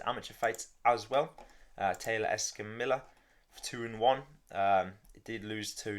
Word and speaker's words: Escamilla: Alvin Hines versus Taylor Escamilla.